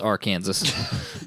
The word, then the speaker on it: Arkansas: Yeah, I was going to say your state's pronounced Arkansas.